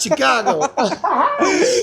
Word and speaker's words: Chicago: And you said it right. It was funny. You said Chicago. That's how they say it up there.